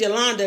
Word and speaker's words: Yolanda: My name is Yolanda. It rhymes with Wakanda.